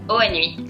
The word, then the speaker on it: Hoanui: Nous sommes aujourd'hui avec Inès Duhard, consultante, influenceuse et fondatrice de la marque de vêtements Oanoui. Bonjour Inès. Bonjour John. Alors j'ai bien prononcé Oanoui? Ouais, nickel. Oanoui, comme ça se prononce.